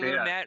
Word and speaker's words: Lumet: Anyways, Sidney Luimet. Is that how you pronounce his last name, Stephen? Before you lecture me 50 times on it? Yes. Sidney Luimet, wee baguette.